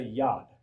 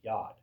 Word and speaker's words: yod: See, the Hebrew letter, the smallest Hebrew letter, is known as a yad. That's how you pronounce it. YOD, yad.